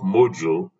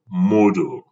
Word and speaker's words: Moodle: Now, it's as if you are pronouncing Moodle and not Moodle, because I can hear some people call it Moodle. It is not module, but Moodle.